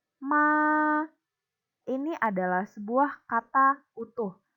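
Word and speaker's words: 妈: Jadi dibacanya ma.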